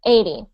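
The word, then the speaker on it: eighty: so you say 18 but when you say the bigger number which is down here 80 you pronounce the eight much bigger okay so 80 like that um okay so I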